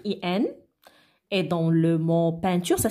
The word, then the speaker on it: peinture: Et dans le mot peinture, ça s'écrit avec 3 lettres. Ah bon? Alors, c'est déjà E-I se prononce E. Alors, on ajoute le N. Alors, ça devient 1.